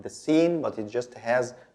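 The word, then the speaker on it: س: Sin. Sin is very easy. It's like the S in English.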